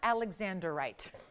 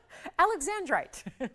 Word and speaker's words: Alexandrite: It's not Alexanderite. Alexandrite. Save yourself a syllable.